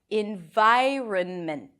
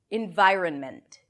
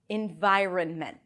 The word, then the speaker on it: environment: Environ, and then ment, an M, a schwa, which is a reduced vowel, and T, mint, mint, mint. You can also pronounce it with a healthy mint, mint. Environment, environment, environment.